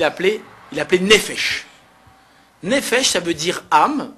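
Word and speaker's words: נפש: Mais en hé- en hébreu au singulier on dit nefesh et au pluriel on dit nefashot.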